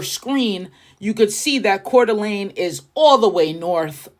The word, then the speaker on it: Coeur d'Alene: And I had to throw this one in the pronunciation Google. Coeur d'Alene. Coeur d'Alene is the third best area to live in.